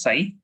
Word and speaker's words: psi: This is written as psi, but it is pronounced, the p is silent, it is pronounced as psi.